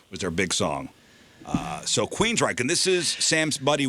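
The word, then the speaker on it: Queensrÿche: The next band is Queensryche. Ah, yes. Queensryche. Now, look how this is spelled. There's an umlaut. Yeah. Queensry with an umlaut over it, CHE. Queensryche. That Y is going to throw them off, I feel like.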